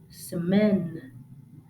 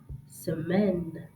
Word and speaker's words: semaine: The second one, semaine, semaine.